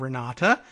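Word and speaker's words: Renate: correction yes we're not re na te is the German spelling of Renata pronounced the same way so and let's see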